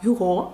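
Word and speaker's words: Hugo: До речі письменника французького Віктора Гюго Віктора Юго правильніше так тому що наголос на останній склад французькою він пишеться Ось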